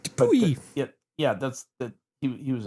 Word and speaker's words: Dupuytren: Yeah, but you pronounced it correctly, right? Yeah. Okay. Because Belgium. It's like Dupuy.